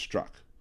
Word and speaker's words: Strzok: thank you Elizabeth uh Peach struck like the Z is unnecessary but that thing that's